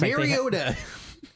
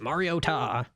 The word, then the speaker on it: Mariota: Dude, announcers never know how to pronounce names. It's Mariota. Like Mariota.